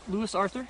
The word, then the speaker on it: Lewis Arthur: face so I say what's your name leis Lewis Arthur leis Arthur can you spell that for me l e w i s